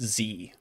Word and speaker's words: Xe: It's private military contractors are morally bankrupt, but it's they've renamed themselves to XE, like the atomic atomic symbol for Xenon, but it's pronounced Z.